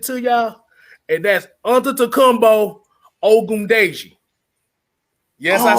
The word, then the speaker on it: Ogundeji: never mentioned it to y'all, and that's Antetokounmpo Ogundeji.